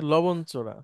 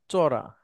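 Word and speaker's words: লবণচড়া: বলে থাকি হ্যাঁ মানে উচ্চারণের ক্ষেত্রে কিন্তু এটা চড়া হ্যাঁ মানে লবণের চর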